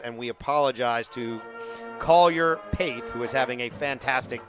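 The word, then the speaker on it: Pecht: It's actually pronounced Paith, rhymes with faith. So we will get that corrected. We appreciate you out there in TV land correcting us, and we apologize to Collier Paith, who is having a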